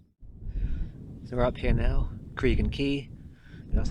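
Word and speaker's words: Craig Goch: So we're up here now, Cregan Key, that's how you say it.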